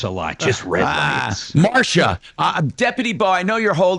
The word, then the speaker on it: Marcia: Is it Marcia, or do you pronounce it Marcia? Many people do either way. It's Marcia.